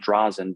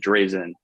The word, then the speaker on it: Drazen: Probably should be pronounced Drazen, but we pronounce it Drazen.